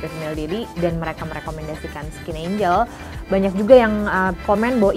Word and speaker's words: Skin 1004: Terus mungkin pada bingung kenapa Skin 1004 ini dibaca Skin Angel, karena 1004 atau yang artinya Cheonsa itu artinya adalah angel dalam bahasa Korea. Jadi buat kalian yang masih belum tahu gimana cara baca Skin 1004 ini, bacanya adalah Skin Angel.